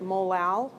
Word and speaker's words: molal: many M's right right it's not a meter and you'd pronounce that molal so 443 molal solution